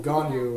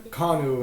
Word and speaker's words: Ganyu: Japanese pronunciation very differently for example ganyu and Chinese is kanu and Japanese but for yewan starting